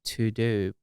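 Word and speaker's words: TeuxDeux: so i use something called to do but it's spelled t e u x d e u x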